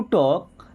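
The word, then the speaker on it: talk: आई हैड टू टॉक। देखिए टॉक means होता है बात करना। यहां पे एल साइलेंट है।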